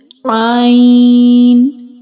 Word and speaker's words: ع: Ain. Let me explain you origin of Ain. Ain pronounced from middle part of throat.